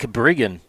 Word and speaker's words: Brigan: got in my back made sure I pronounced the last name of the pitcher correctly it's Jake brigan thanks Mike his sister is his aunt Tyler Byer the batter he'll step out brigin will recheck Tyler Byer